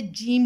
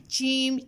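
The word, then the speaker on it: ج: तालू का दरमियान से जीम लेटर प्रोनाउंस होता है, ठीक है। जीम जीम बिल्कुल ज़बान को पीछे करके रखना है, अगर आगे आएगी ज़बान जीम चीम चीम तो ये वाली साउंड रॉन्ग हो जाएगी।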